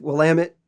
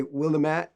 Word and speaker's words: Willamette: It's pronounced Willamette and it's Oregon, like organ in your body. But it's kind of fun to mispronounce it because we like to burn the tourists who come. So if we can get you to say Willamette, we will get a joke out of it.